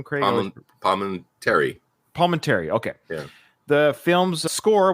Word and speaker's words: Palminteri: Palminteri.